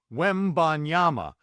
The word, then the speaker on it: Wembanyama: The Ban is where you can really mess that up. Wembanyama.